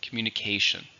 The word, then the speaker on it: communication: one is a noun how many syllables in communication five stress on the last one sorry not the last on the fourth one communication nowadays texting is a